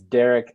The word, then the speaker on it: Darrick: conversation so facebook so my name is just spelled a little bit differently but it's derek derek d-a-r-r-i-c-k and then like